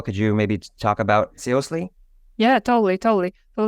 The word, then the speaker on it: SEOSLY: So there are basically like two types of pronunciation. At first, it was supposed to be SEOSLY because I wanted this to be from seriously. Then kind of more people used to call it SEOSLY, as sly as a fox.